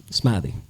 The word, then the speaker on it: Smithy: would say it, because it's Smith and then E, Y. You would think the Y is silent, so it's supposed to be E, Smithy. No, Smithy.